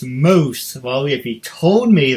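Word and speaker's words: mousse: And I thought it said mouse. M-O-U-S-S-E. I was like, okay, weird way to spell mouse. And then I found out it said moose. But no one told me to after the fact. It's like, okay, what do you want for dessert? Yes, can I get the chocolate mouse cake? That's awesome. And my dad's like, it's moose.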